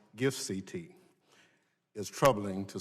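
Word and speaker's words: GIFCT: global internet forum to counterterrorism or pronounced gifts et is troubling to say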